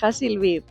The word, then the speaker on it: Hassi Labied: mucha orientación y hemos Unido ahora loasis de hil be Esta es la pronunciación Aquí tengo el detrás que me dice